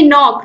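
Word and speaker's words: knock: ऐसे ही नॉक, नॉक the door, door को खटखटाना, तो एन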